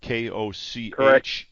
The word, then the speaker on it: Koch: K O C H.